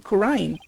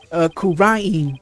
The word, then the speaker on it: Kura'in: That's how we greet people here in Kura'in. Kura'in, sorry.